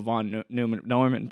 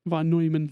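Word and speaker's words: von Neumann: where it's just like the idea of a von Norman probe doing is that how you say it? Vonoyman.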